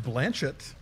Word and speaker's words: Blanchett: I know it's pronounced Blanchett.